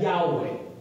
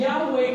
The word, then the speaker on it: Yahweh: four letters uh in in Hebrew it's YH wh now we pronounce that Yahweh right but that's not we don't know if that's the actual pronunciation you know why we